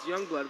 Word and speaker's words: Jongbloedt: pronunciation of the starters, the last name is Youngblood, and he said it's Youngblood, but it's the funniest spelling of Youngblood you'll ever hear.